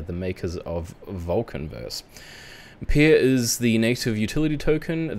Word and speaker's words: PYR: is vulcan forged so this word is actually pronounced pear vulcan forged is a blockchain game studio and nft marketplace they are the makers of vulcan verse pier is the native utility